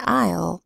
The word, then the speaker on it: aisle: And in aisle, the S is silent.